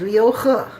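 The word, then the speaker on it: Liu He: name correctly it's spelled H e it is pronounced huh his name is Leo huh everybody practice that now yoga he's the guy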